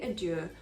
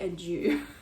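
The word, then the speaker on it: adieu: pride are due now don't say adir they wouldn't they probably would not have said that in shakespeare's day it's usually kind of anglicized and also you can hear that it rhymes with true so just say a jew okay so show that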